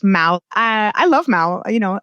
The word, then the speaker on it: Mahou: In Madrid it's Mahou, which is the If you're in Madrid, you'll see the name everywhere. It's m a h o u, but it's pronounced Mahou.